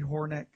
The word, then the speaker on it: Hornik: Marley Hornik, for coming on. Am I pronouncing your last name correctly?